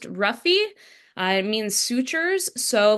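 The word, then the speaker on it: -rrhaphy: is a little bit tougher to pronounce it's pronounced ruffy uh it means sutures so like mayori would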